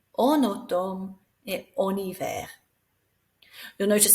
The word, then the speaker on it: en automne: So we slide it together so that vowel pronounces the N. En été, en automne.